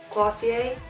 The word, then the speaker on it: Glossier: this glossier right that's how you say it glossy a Aussie Aussie a this glossy a future do